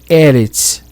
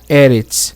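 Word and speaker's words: ארץ: Mas a palavra em si é Eretz, tá? Eretz, quando não está com artigo. Quando está com artigo é Aretz.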